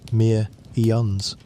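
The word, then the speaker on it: Pthumerians: The name is spelled with a silent beginning, and you may simply say it as the Mearions.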